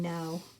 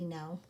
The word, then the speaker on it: know: in Bo and look when you cross out those silent letters it looks like the same know as if you're telling somebody no and our last one